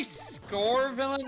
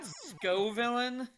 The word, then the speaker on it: Scovillain: a did you just say scor villain and not Skov villain is am I wrong for pronouncing it like that yes yes because the name is scovillain as in the Scoville scale it's also written right